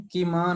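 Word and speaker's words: किम्: तो यहाँ देखिए माँ का उच्चारण पूरा नहीं है, कि माँ नहीं बोलना है, यहाँ हिंदी की तरह बोलना है किम, माँ में आ नहीं आना चाहिए, और बृहत्ता के बाद भी आ आपको नहीं बोलना चाहिए।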